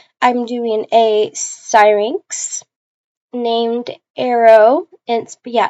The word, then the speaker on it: Arro: doing a siren named arrow and yeah it's pronounced Arrow even though it's spelled like this we don't have a